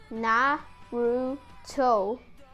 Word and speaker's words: Naruto: they're gonna say that that's not how you pronounce that name you pronounce na ru toe and then i'm gonna